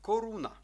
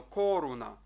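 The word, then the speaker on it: koruna: звук к у слові Коруна Ну як і в попередньому слові інформація теж маємо три склади у цьому слові немає діакратичних знаків немає подовжених голосних тому слово читаємо рівненько не тиснемо сильно Коруна Коруна Коруна це є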